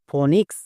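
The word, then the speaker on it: phonics: এন আই সি এস ফনিক্স এখানেও দেখো পিএইচ আছে পিএইচ দেখতে পেলে ফো করব তাই ফো যেমন ফনিক্স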